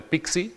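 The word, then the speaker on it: PKCE: El que se llama el flujo de autorización, el de Pixie, es como se pronuncia el acrónimo.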